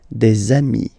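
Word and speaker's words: les amis: got de Ami okay and if you make the the liaison so the link between the two you will get the semi okay the zombie so Ami remember doesn't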